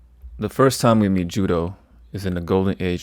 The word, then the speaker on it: Judeau: Such an example would be a character like Judeau or properly pronounced, Jude. The 1st time we meet Judeau is in the Golden